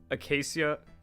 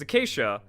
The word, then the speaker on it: acacia: Because instead of like going for acacia, yeah, I can't pronounce that. Because it's acacia, but for some reason I pronounced it as it looks, and that's not quite correct.